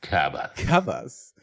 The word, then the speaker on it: Kabas: Kabas. So That's how you should pronounce it, by the way.